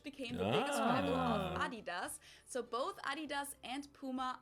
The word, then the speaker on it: Adidas: what they were referring to because they usually pronounce it Adidas and in Germany we say Adidas Adidas Adidas super Adidas it's one of the